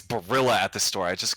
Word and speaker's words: Barilla: I don't know pasta oh it's Barilla it's Barilla at the store I just Googled it I was like one syllable away it's pretty close pretty close we'll